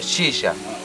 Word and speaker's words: shisha: shisha.